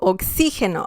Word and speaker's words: oxígeno: So, oxígeno, oxygen.